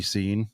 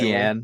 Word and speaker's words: Cian: I've had it spelled wrong and pronounced wrong. People in 2023 still call me Scene occasionally. the right Cian, way.